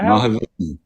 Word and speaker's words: Mahavishnu: How do you pronounce this, Brad? Mahavishnu Orchestra? Yeah, Mahavishnu.